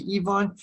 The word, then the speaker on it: Ivan: ebay on the third ivan third in russian pronunciation close to evon it's a form of